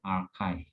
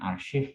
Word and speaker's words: archive: bacanya archive, bukan arsip tapi archive.